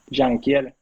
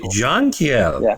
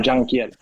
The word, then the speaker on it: Jankiel: How do you pronounce your name? Jank. Jeaniel. Okay. Really? Jangiel, not no junkiel.